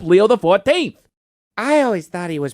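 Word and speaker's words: Leo XIV: Pope Leo uses the X, the I, and the V as Roman numerals. So, he's Pope Leo the 14th. I always thought he was Pope Leoxiv.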